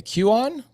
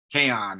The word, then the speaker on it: Kaon: Q on? Queen? Kaon, it rhymes Kaon, with crayon.